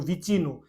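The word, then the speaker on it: vicino: सी आई एन ओ, वी आई को पढ़ेंगे वी, सी आई को बोलते हैं ची, इस प्रकार से हम लोग उच्चारण करेंगे एन ओ का नो।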